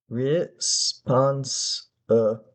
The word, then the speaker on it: responsible: Okay, so the first syllable, I wrote re. It could be re or ruh, but I think re is a compromise between those two. Re, remember, if you have trouble pronouncing SP, you can make the S, treat the S as a vowel. Say respond, respond, responsible.